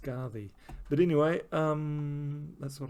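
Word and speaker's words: Skaði: scardy that's actually that although it's um spelt scardy i believe that's pronounced pronounced scardy um because the the the d in norse isn't really a d it's a um so i i believe that's pronounced scarvi but anyway um that's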